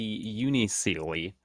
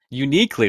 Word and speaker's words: Unicly: The unicely, at least that's how I'm pronouncing that. Uniquely, there you go.